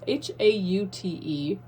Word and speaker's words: haute: I know it's H-A-U-T-E. Like, that's still pronounced hot, right? Or is it Haute? I always assumed it was hot.